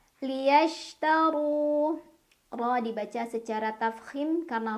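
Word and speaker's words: لِيَشْتَرُوا: Shin itu punya banyak sifat, tapi salah satu yang khas adalah sifat tafashi, yaitu menyebarkan angin di dalam mulut. Liyashtaru.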